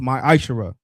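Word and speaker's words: מַעֲשֵׂר: Means tenth in the Hebrew, and is pronounced ma'ashara.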